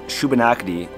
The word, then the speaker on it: Shubenacadie: is now nova scotia the name schubannockdi was a mispronunciation of the traditional migman name sebagonagadik meaning where the ground nuts grow today the waterway